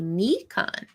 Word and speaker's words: Nikon: hey Jim um um if you were to pronounce it with Japanese vowels it would be Nikon um plot thickens oh